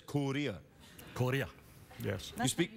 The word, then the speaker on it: Korea: You say it like this, Korea.